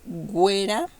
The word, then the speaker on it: güera: When you see these 2 points above the u, you have to pronounce the u even if you see these 2 vowels. Okay, so here we pronounce it like güera y agüita.